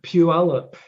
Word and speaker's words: Puyallup: I couldn't pronounce it. Is it Puyallup.